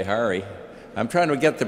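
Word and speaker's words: Harre: I should say Hari. I'm trying to get the pronunciation of this very complicated name of this wonderful president of this school.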